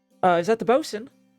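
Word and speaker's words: boatswain: We don't necessarily have a boat in boats. Is that how you say it? Bosen.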